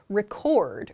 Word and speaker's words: record: Yeah, so as a verb, the word is pronounced record, record. So for example, we're recording a video, or let's record a song next year.